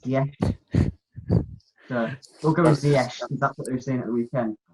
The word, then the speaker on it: Ziyech: I believe it's pronounced Ziyech.